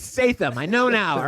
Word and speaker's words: Statham: I get it. It's Statham.